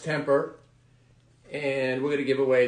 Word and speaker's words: TMPR: here from Temper sports TN PR pronounced temper and we're gonna give